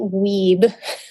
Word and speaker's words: Wiebe: website is my name it's weed which is tough but it's wi eb e it follows a grammatical rule weed PT comm